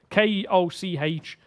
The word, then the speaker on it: Koch: And then I think, is it Koch Media or Koch Media? I don't know how you pronounce it. It's Koch.